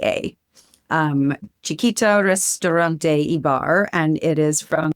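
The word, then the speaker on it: Xiquita: It's X I qu ui t a um chikita restaurantebar and it is from an incredible operator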